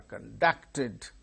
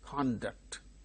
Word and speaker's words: conduct: Likewise, conduct is noun, conduct is verb. When it is used as verb, the same word, stress changes to second syllable. When the same word is used as noun with the same spelling, the first syllable gains stress.